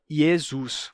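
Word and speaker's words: Iesus: is is isus isus então fica yesus com um e porque em latim nunca aconteceu a transformação do do e para i como em grego né aqui temos Jesus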